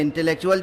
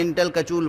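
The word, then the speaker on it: intellectual: تلفظ نہیں آتا تھا، تو اردو میں انٹلیکچوئل جب لکھا جاتا تھا تو میں تو اسے انٹل کچول پڑھتا تھا۔ اور کیا کہوں، دانش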